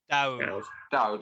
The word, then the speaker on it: Daoud: Is it David or is it Daoud? Daoud, okay.